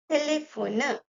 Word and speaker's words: téléphone: So we pronounce it as téléphone, téléphone.